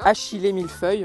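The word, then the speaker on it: achillée millefeuille: la circulation sanguine donc c'est de l'akilé milfeuille ou achilé milfeuille on a un petit peu les deux deux prononciations que éventuellement si il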